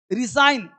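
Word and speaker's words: resign: रिसाइन, जी silent, त्याग को देना।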